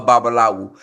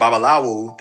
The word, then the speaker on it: babalawo: "I'm a babalawu."